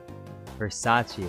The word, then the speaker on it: Versace: you you call me my tag is pronounced r i C3PO Versace oh okay Versace like the cologne okay uh okay sorry